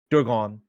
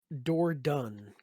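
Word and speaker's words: Dordogne: Dorgon. I said it wrong, didn't I? It's a beautiful Dorgon? game. It's It is like a beautiful game. Door done.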